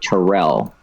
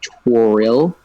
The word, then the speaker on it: Toriel: wait whole entire thing most Americans say it like Tyrell okay and that's what drives her crazy so it's like toriel trill I just wanna